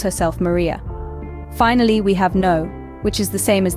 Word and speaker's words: en: first up let's tackle n n n translates to in in English it's pronounced much like the English letter N picture yourself saying I'm